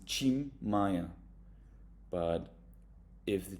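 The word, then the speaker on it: Tim Maia: and the the T if the t is followed by an i it will always become a chi cholu or the famous singer you will pronounce him Chim Maya but if the t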